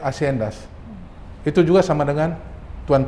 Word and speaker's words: haciendas: Lalu juga berpuluh-puluh tahun, ratusan tahun di Amerika Latin yang namanya tulisannya haciendas tapi bacanya haciendas.